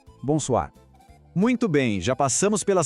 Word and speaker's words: bonsoir: A segunda parte, soir, tem o tal do R francês que às vezes assusta, mas é só um som que vem lá da garganta, como se fosse um gargarejo bem de leve. Tenta assim. R, soir. Juntando tudo, devagar. Bom, soir. Bonsoir.